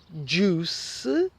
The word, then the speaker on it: juice: So words that have an oo pronunciation, so you don't pronounce the I, are juice and fruit. So you should order a fruit juice or a fruit salad.